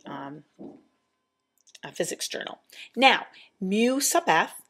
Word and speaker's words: mu: symbol is it's a Greek symbol and it's pronounced mu mu mu and all mu is is a